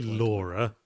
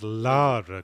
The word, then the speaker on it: Lara: time traveler don't say Laura her name isn't Laura Croft it's Lara Croft Larry Croft Lara Croft